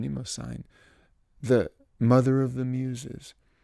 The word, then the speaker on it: Mnemosyne: He sang first to Mnemosyne. I have to pronounce her name, Mnemosyne, the mother of the muses.